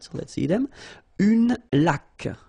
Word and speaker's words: laque: Une laque. Remember the rule when you get this QU, well, U is not pronounced, so you get k like that.